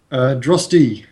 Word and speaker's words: Droste: Droste is how it's Droste. Right. pronounced.